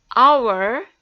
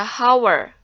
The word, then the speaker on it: hour: jeans nah kalian perhatikan kata-kata Our ya disitu hurufnya H atau eight tetapi dibacanya our tidak dibaca hower maka the disini dibacanya